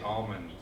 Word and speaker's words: almond: al l mo ND it's technically not right but oh you wouldn't be marked down if you say almonds with the L I disagree with the